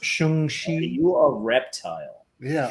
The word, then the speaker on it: Shang-Chi: It's pronounced Shung-Chi.